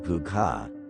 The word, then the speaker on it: Púca: The meaning of Pooka, pronounced Puka, is from the Old Irish word, Pooka, which means goblin.